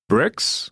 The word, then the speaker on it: Brix: Brix, which is spelled B-R-I-X, Brix values are a way to measure the percentage of sucrose, a sugar, in a given crop.